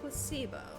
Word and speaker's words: placebo: looks really weird placeo the stress is on the middle syllable h Placebo very good you're fainting